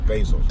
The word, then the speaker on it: Bezos: But Jeff Bezos also runs the Washington Post, so he really got it going on. So, or Jeff Bezos, rather.